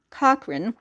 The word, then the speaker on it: Cochrane: Irish American reporter Elizabeth Jane Cochrane, the CH is pronounced like a K, also known as Nellie Bly, made history when she traveled around the world in 72 days in 1889.